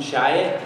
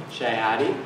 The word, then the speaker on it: Chiotti: So as Tom mentioned, my name is Chiotti, or at least that's how we pronounce it in Michigan. Those of you who work for the D.C., Chiotti.